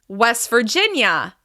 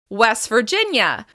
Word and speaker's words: West Virginia: West Virginia. West Virginia. Remember, we're going to stress the second word, and in this case, it's the second syllable of this word.